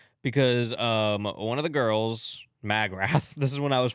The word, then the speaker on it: Magrath: And I was like, no, I think it's pronounced Magrath. Yeah. McGrath. Magrath. Magrath. AKA Liz? I didn't find out till like an hour ago. Anyway, Magrath.